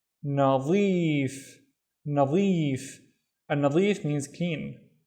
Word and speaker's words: نظيف: The first syllable is na, the second syllable is zeef, nadif.